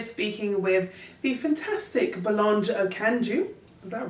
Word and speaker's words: Okanju: And today we're speaking with the fantastic Belange Okandju. Is that right? That's right. Thank you. I've been practicing. It was good pronunciation right there.